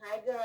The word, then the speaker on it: higher: With more than half of women in higher education. No, higher. Higher. Yeah, higher. So G is Silent.